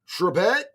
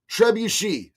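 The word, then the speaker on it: trebuchet: Uh Isabella Iron Blade, Isabelle Ironblade said, "Hey JD, uh Trebette is pronounced Trebuchi.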